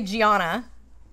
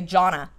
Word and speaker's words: Gianna: you say here well if i say gianna everyone's going to butcher it so there's just no there's no chance there so i've just given up on saying my name correctly and i just say jonna and they think you're saying donna or gina so yeah she gets